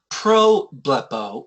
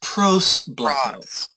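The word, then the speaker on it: προσβλέπω: Yeah, it's not pro-blepo, it's pros-blepo.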